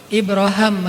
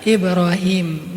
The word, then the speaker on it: Ibrahim: daripada Rasulullah adalah ibraham kalau dalam salah satu qirat itu bacanya Ibra ibraham makanya orang Inggris nyebutnya Abraham atau bisa juga dibaca Ibrahim nabi ibrahimlah yang mengucapkan sebelumnya